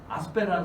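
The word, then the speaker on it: Aspect: 그 중에 이제 여기 아스페라는 사람이 여기 있죠. 프랑스 사람입니다. 그래서 T 발음을 안 해요.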